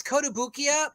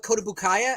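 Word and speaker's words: Kotobukiya: kotobuki how do you say that so it's kodabukia but i've actually heard people call it kotabukaya as well all right well you know every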